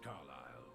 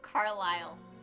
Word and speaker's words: Carlisle: you welcome back Prince Carlile Oh Carlisle that's how it's pronounced is there any news